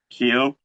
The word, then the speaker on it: Kehoe: name Kehoe k-e-h-o-e how do you say that pronounce that Keo um how long has it been since your